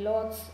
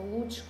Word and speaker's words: Łódź: il ghetto di Varsavia sicuramente sia quello di Lodz o Łódź, come lo pronunciamo, quello più conosciuto perché è stato quello